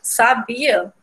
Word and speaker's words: sabia: Quando a gente tira esse acento do sabiá e lê sabia, percebam que o nome sabia, a gente lê mais forte o bi, né?